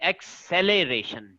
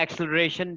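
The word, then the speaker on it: acceleration: ठीक है, एक्सेलरेशन सही इसको प्रोनाउंस करना हो तो प्रोनाउंसिएशन इसकी सही है एक्सेलरेशन। ठीक है, लेकिन हम जल्दी में एक्सेलरेशन भी कह देते हैं।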